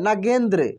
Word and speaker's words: नागेंद्र: इसको कैसे पढ़ना है देखिए जैसे नग जी के बाद एन का उच्चारण हो रहा है काफी तेजी में और दो का भी उच्चारण 23 हो रहा है नागेंद्र नागेंद्र समझ रहे हैं नागेंद्र